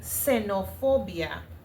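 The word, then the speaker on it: xenofobia: Senopobia, of course, with a S. Let me just write it. This is how you pronounce it. Yeah. in espanol in Spanish. Mhm.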